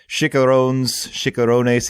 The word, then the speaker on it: chicharrones: Chicharrones. How do you say that? I think it's chicharrones. It's their pork rinds. Yeah. Mm-hmm. And I believe your pronunciation was correct the first time.